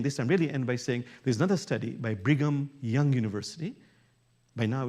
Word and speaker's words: Brigham: But number two in the Brigham, is how you pronounce it, Brigham Young University, number